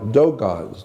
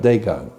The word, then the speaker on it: Dogon: Yeah, like Dogons. It's spelled D-O-G-O-N. Dogon, not Dagon.